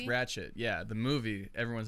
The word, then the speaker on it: Ratched: of those things where i think that like it is a d but it just sounds like a t when you pronounce it yeah i don't know